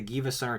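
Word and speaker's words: GilvaSunner: But yeah, so it's just, they like baited originally, but then the GivaSunner channel, also this is how it's pronounced. GivaSunner.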